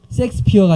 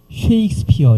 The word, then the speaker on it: 셰익스피어: 있지 않을까 그 다음에 셰익스피어가 아니라 쉐익스피어 이렇게 발음을 하시면 훨씬 더 우리가 부담스럽지